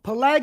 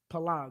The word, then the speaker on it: Peleg: Peleg is how you say it in English. It's Pelag in Hebrew. Pelag, right?